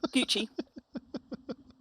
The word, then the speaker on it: Gucci: Gucci. Or have I mispronounced that word as well? No, Gucci.